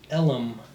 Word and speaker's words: Elm: point its enduring name, Big Elm, pronounced Ellum by everyone I ever heard say it.